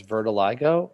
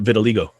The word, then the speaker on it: vitiligo: so he claims that he has vertiligo i think is how it's pronounced uh vitiligo for okay i knew